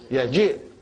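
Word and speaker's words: يجيء: Ain al-mudiru lamma yaji. Watch at the spelling of yaji. Highlighted, brothers and sisters. You know why? There is no ya to be pronounced. Only kasra. And what is this ya doing here?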